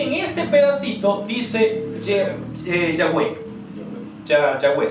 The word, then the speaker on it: Yahweh: Yahweh, sí, la pronunciación más normal o más cercana al hebreo.